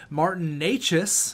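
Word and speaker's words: Martin Nečas: big goal a little over two minutes in Martin Neches there you go I know how to pronounce that name now and then Trent Frederick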